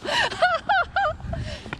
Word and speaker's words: 甜点: Tianxin [Dessert - mispronounced 甜点 as 甜心] Oh, so Tiandian (甜点, dessert) What, Tianxin?